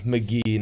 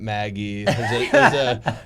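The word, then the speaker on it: Magee: to teach him like the correct way to pronounce it you know all those McGee not Maggie Road in Tucson I was trying to get a listing boyhood and I called it Maggie and they're like well you're done and hung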